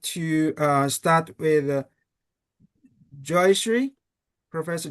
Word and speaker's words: Joyashree: So, I would like to start with Joyashree, Professor Joyashree.